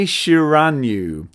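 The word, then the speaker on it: Shiranui: helpfully informs me that my shiranu is how you pronounce the name of this lady from King of Fighters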